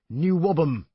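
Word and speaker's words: NWOBHM: was a Preposterous title shortened to the equally incomprehensible n w o b h m pronounced new wobham the bands involved suddenly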